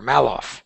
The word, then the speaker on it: Maloff: Is it Maloff or Maloff? The latter, Maloff.